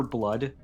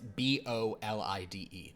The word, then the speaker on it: Bolide: did you say Super Blood earlier? Super Bolide. Blide. I heard blood too. Well, And I was- it's the pronunciation is this, but Super Bolide. It's Bolide. Super Okay.